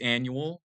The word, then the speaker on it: annual: But when you're um pronouncing this, it's annual. So we don't pronounce the U very like long. It's a short a like annual.